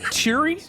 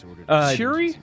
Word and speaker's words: Turi: Evil now yes please okay my name is pronounced and it's cheery cheery yeah you got it okay cool okay what's